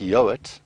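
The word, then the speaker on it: Yeowart: Um, and then I've got quite an interesting surname, which is pronounced Yoat, but it's spelled Y E O W A R T.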